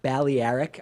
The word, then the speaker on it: Balearic: vacation to one of the Balearic Balearic I think is how you pronounce it islands off the coast